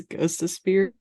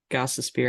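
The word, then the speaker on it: Gostisbehere: I I read it I read it as ghost of spear because his nickname is Ghost but it's not ghost of spear it's gos of Spear and I'm probably still saying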